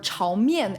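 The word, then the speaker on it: 炒面: kid chow mein or chao myem as it's properly pronounced in mandarin is just stir-fried noodles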